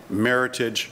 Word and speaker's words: Meritage: or they call it Meritage rhymes with heritage walla walla walla walla